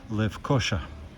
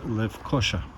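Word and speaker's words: Lefkoşa: It is really Esh, not S, so Lefkosa, but the stress is on O, so Lefkosa. So the city I'm in, now I know it, is called Lefkosa.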